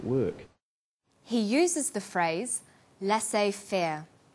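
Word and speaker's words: laissez-faire: He uses the phrase lass fair. Lassay fair is a borrowing from French. It closely reflects the pronunciation of the original language and the original spelling.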